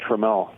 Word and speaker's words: Tramiel: I've been pronouncing it wrong all these years. Apparently, it's Jack Trammell.